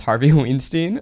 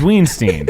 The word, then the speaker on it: Weinstein: Can we go back to when Miles pronounced it as Harvey Weinstein? It's Weinstein.